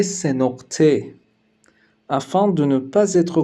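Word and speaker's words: سه‌نقطه: Nous l'appelons également C sénorte, afin de ne pas être confondu avec d'autres lettres ayant un son similaire.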